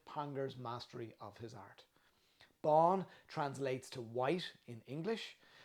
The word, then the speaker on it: Bán: Pangur Bán, pronounced Bán like fawn, is the white cat that you see on the bottle, and he's the master of his art, or the happy hunter.